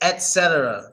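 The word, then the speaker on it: etc.: we say Etc but how is it supposed to be pronounced Etc this is a hard one because the proper way doesn't even look like English yeah that's what it means so on yes but there you go it's Etc there you go Etc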